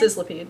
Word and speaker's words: Sizzlipede: Sizzlepede. Yeah. Sizzlipede, but yeah.